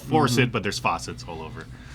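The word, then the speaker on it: Force It: My number five is Faucet. And the reason I say it like that is if you look at the cover, there's all kinds of faucets. It's called Forcit, but there's faucets all over.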